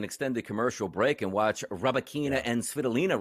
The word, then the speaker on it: Rybakina: Yeah, Rybakina is what we're looking for here.